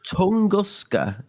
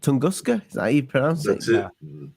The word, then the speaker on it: Tunguska: was that's pretty cool it's a pretty cool tongoska event tunguska that's it see thank God I didn't have to pronounce it that's right okay so explain this